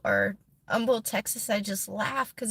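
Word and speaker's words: Humble: I see somebody post Umble or Umble Texas I just laugh because it kills me how the H is silent so every time you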